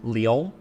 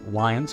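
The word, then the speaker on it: Lyon: named it after a very famous French city Leo uh and today we Al know that as lions because that's how we mispronounce many of the French names here in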